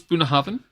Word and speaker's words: Bunnahabhain: I mean, how do we pronounce Bunnahabhain? Bunnahabhain? Bunnahabhain.